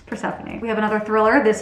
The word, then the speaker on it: Persephone: I ended up Googling it to know the pronunciation because I didn't want to keep reading it as Persephone if it was not Persephone. Anyways, just so you know, it's Persephone.